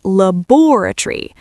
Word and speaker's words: laboratory: In standard British English, we place the stress on the second syllable. We say laboratory. We completely drop the O before the R and we drop the O before the Y. We compress five written syllables into four spoken ones.